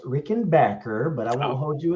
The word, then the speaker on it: Rickenbacker: And it's actually pronounced Rickenbacker, but I won't hold you again.